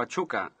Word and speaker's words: Pachuca: allá en aquel fuego a chuck a así es como se pronuncia diciendo yo no puedo ver cómo es que se deletrea pachuca con una h nosotros no nosotros no